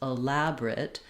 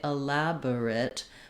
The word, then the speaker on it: elaborate: It's okay to say elaborate, but you might notice that that middle schwa often gets dropped out because it's so fast and unimportant. So if I do say elaborate, elaborate with 4 syllables, elaborate, I need to be very quick on this middle schwa. I can go all the way to dropping it out and it won't affect the pronunciation.